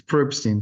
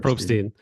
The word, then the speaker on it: Probstein: largest Oh, sellers or It's Probstein, just so. Probstein. Oh my goodness. If Thank I you, if I had a nickel for every time it's mispronounced, but it's Probstein. Probstein.